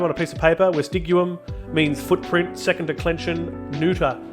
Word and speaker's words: vestigium: neuter second declension noun, vestigium, as opposed to vestigium. It's always a hard G in Latin, vestigium, and then it is